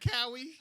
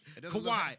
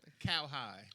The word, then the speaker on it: Kawhi: You said Cowie? I always fuck his name up. That's what it looked like, though. If they never pronounce it, that's how I pronounce it. Yeah. Listen. I know my sports, but damn, man, he got a fucked up name. But anyway, Kawhi. He said Kawhi. What the fuck? It doesn't look like how it's pronounced. If you look at it, and I'm not thinking Kawhi.